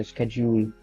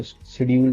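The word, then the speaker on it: schedule: For example स्केड्यूल स्केड्यूल को शेड्यूल बोलते हैं काफी लोग. तो ऐसी प्रोनाउंसिएशन मिस्टेक्स करते हैं दैट मेक्स देम फील कि उनको इंग्लिश नहीं आती है, और ऐसा है.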